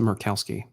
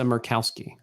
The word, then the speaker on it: Murkowski: The Kowski's fine, but I always assumed that the Mur was like mermaid.